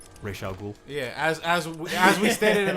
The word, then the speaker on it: Ra's al Ghul: Yeah, I mean certain people mispronounce his name. Ra's al Ghul.